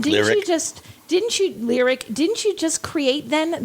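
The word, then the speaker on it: Lyriq: would happen right but you've already said it's lyric you've already said it's celestic so if you do the ick is how you pronounce that ending it's going to be the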